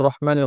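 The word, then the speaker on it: الرحيم: রহিমের মধ্যে র মোটা হবে, হা উচ্চারণটা স্পষ্ট হতে হবে।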